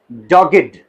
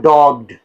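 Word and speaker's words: dogged: blessed okay then D ओ जी जी ई डी डॉगड इट इज नॉट डॉग्ड या डॉज्ड नो इट इज डॉगड डॉगड ये भी एक इडी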